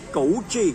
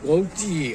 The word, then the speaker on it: Cu Chi: How to pronounce? C-U. Spelling I know. Tell me. Tunnel name? Chuchi or Gucci? Gouchi. Gouchi.